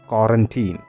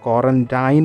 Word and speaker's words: quarantine: രണ്ടാമത്തെ വാക്ക് വളരെയധികം സുപരിചിതമാണ്, എല്ലാവർക്കും പരിചയമുള്ള വാക്കാണ് ക്വാറന്റീൻ. പക്ഷേ ഇവിടെ എനിക്ക് എടുത്തു പറയേണ്ടത് അതിൻ്റെ ഉച്ചാരണത്തിൽ. നമ്മൾ പലപ്പോഴും ക്വാറന്റൈൻ എന്ന് പറയുമെങ്കിലും the actual pronunciation of the word is ക്വാറന്റീൻ.